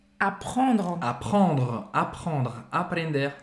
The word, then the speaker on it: apprendre: O verbo aqui é apprendre. Apprendre, apprendre, aprender. Tem dois P em francês. Apprendre, E a gente termina a pronúncia nesse R, né? apprendre, apprendre.